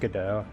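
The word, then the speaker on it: Godot: Yeah, I say go do GDO cuz it's like go and then dot. So I just keep wanting to say go do but it's supposed to be pronounced GDO and I'm just like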